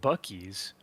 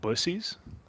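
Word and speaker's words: Buc-ee's: speaking of America did you guys know that bies is not in fact pronounced bies but busies um shut the front door no you're lying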